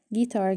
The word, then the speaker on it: guitar: see the spelling here the letter U is silent in a few English words and you continue the note you write this note example guitar guilty but when it falls